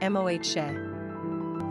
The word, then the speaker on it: Moshe: Pronunciation, Moshe.